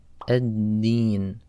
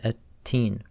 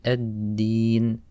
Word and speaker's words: ad-Deen: On this word, the letter dal, people often mispronounce as ta. They say at-teen. So when we're pronouncing the letter dal, we don't want any air to come out. So you say ad-Deen, ad-Deen.